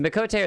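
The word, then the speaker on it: Miqo'te: Okay, so Mikoshte, is that how you say it? Mikote? Mikoshte? Mikote. Mikote. Okay, so Mikote are the cat people.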